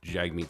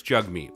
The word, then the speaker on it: Jagmeet: They're screaming the word traitor at Jagmeet Singh. Yeah. Sorry, it's Jagmeet. I should pronounce it right.